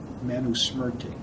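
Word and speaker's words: Manusmriti: it's a book that you can read called manusmerte spelled m-a-n-u-s-m-r-i-t-i in india they call yakub manu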